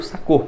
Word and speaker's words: Sakho: Bom, o que eu quero falar então aqui sobre uma opção para zaga, né, que é o Sakho. Aí essa é a pronúncia do nome dele mesmo, tá?